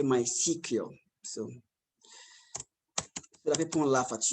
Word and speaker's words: MySQL: at my my cq so it's pronounced my sequel i write it mysql but you don't say my sql say my cq so let me laugh